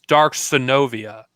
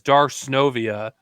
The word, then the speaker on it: Darth Synovia: Well, I actually didn't always pronounce, my name Darth Synovia. I actually pronounced it at first as Dark Synovia. But because so many people pronounce it as Darth Synovia, I pronounced it the same way as everyone else. So it's Darth Synovia.